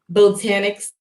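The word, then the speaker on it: Botaniq: And I landed at Botanics Luxe. But Botanic is spelled BONTINQ. Luxe, LUXE. Okay, Botanic. Botanic. You pronounce it botanic, like botanical gardens, but it's spelled with a Q at the end.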